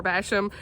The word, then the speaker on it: Basham: by pepper basham and i've been saying her name wrong i finally figured out how to say it so it's pepper basham and i'm so excited